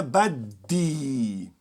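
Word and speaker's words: بدي: E se eu disser para você que para dizer em árabe eu quero, diga ana baddi. Tá? Força esses Ds, repita. Ana baddi.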